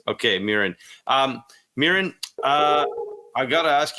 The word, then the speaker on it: Mirin: I said that right. I know I just got your pronunciation off cam, but did I say that right? Mirin, yes. Mirin Fader, yes. Okay, Mirin.